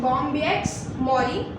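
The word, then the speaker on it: Bombyx mori: Moth होता है जो कि जिसे कहते हैं बॉम्बिएक्स मॉरी, बॉम्बिएक्स मॉरी, बॉम्बिएक्स मॉरी, प्रोनाउंसिएशन सुन लीजिएगा, बॉम्बिएक्स मॉरी, जिससे बेस्ट सिल्क प्रोड्यूस होता है.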